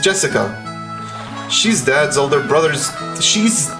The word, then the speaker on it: Jessica: You see, it's pronounced Jessica.